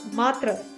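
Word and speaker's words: मातृ: or form for example the Sanskrit word Matra with a long a and a soft T becomes Mar in Greek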